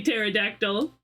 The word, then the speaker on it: pterodactyl: But it's usually pterodactyl. Why can't you hear the psychiatrist use the bathroom? Because the P is silent.